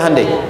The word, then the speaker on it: Hyundai: Hyundai kan dibacanya Hande ya kan? Sana Honda, sini Handai gitu.